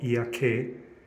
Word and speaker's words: 祖谷渓: are at ia valley in japanese it's called iaake in tokushima prefecture in shikoku and we are